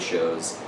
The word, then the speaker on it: Chauvet: started going to trade shows that I heard all the show baby J people pronouncing that show baby J and Sony events might hear me say sha they don't hate me